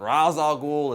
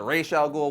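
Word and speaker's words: Ra's al Ghul: ghoul though people are always arguing how you pronounce his name is it razal ghoul is it Ral ghoul well I'm going to put that argument to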